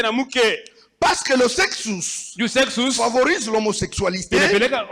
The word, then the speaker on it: sexus: Nous l'appelons en grec sexus. Tunaita Mkigreki sexus. Sexus comme ça se Sexus prononce.